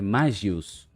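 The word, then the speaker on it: Magus: de bom no jogo eu fui ver a pronúncia dele é é magius mas vamos ficar nessa não vamos de magos mesmo de cara a gente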